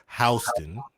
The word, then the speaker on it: Houston: Of course, it's spelled like Houston, but it's pronounced down here, or up here, or out here, Houston.